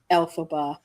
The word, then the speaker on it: Elphaba: It is Elphaba and Galinda.